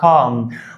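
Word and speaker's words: calm: هارموني، ودي اسمها كام، ال يا صاحبي مش بنطقها، اسمها كام. وكما قال الاخ جوني في مسلسل الكبير قوي، كام داون، كان بيقول كام داون، ما كانش بيقول كالم داون.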